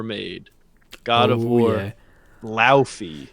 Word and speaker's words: Laufey: Laufey. Yeah. As they said it's pronounced.